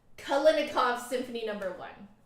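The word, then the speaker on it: Kalinnikov: making my um video about it Bulletin uh kalinikov kalinikov Symphony Number One it's really pretty very luscious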